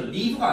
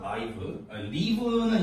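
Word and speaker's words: live: 하겠습니다 자 여기하고 이제 라이브라고 나와 있죠 리브가 아니에요 여기서 발음이 라이브입니다 라이브리는 이제 동사로 쓰일 고요 형사로 쓸 때는 라이브인데 아 근데 이게 지금 책에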